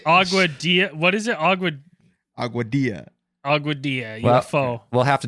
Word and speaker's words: Aguadilla: what is it a aadia aadia UF we'll have to take your word for it cuz I've always pronounced a Dilla same with tortilla not the good not